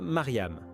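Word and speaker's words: مريم: Marie, comme vous le savez, se prononce en arabe Mariam.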